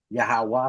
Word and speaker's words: Yahweh: It's YHWH Yahweh.